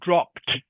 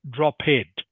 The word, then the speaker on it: dropped: it to okay so this is one of these words where the e d is actually pronounced like a t Okay so it is dropped not droped can you say it